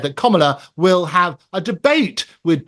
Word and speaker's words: Kamala: It is Kamala, as in comma, the punctuation, and la on the end of it.